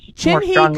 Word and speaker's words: Chinhee: Chinhee could find a psychic beetle in a haystack.